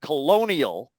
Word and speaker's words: colonial: colony if we take a related word colonial it's the second vowel upon which main stress is fallen and so part of